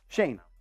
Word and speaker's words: Schoen: talking to, let's say, the Jets, and he's Schoen. How do you say his name? Shane.